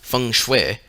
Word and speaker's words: feng shui: it the chinese system of geomancy feng shui pronounced feng shui is the science of the understanding the dragon